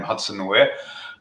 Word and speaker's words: Hudson Wire: Yes, you had a good pronunciation of the name Hudson Wire.